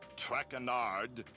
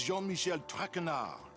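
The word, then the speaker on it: Jean-Michel Tretard: butchered while I eat as for my name not track andar it is Jean Michelle trenard Jean Michelle trenard TR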